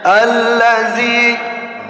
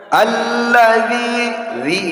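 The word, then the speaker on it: الذي: sini kita harus berhati-hati kalimat orang membacanya tebal ya Misalnya allzi ini bacaan yang salah ya jadi harus dibaca dengan alladzi itu sifatnya tipis ya artinya di ujung lidah kita harus baca ujung lidah kemudian di kalimat Yu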